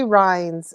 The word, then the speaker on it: Rynes: her up, Nancy Rines, and it's spelled Rynes.